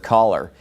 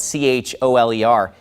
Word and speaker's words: choler: or fifth grade English I learned the word caller it's spelled c h o l e r he pronounces it choler well obviously if people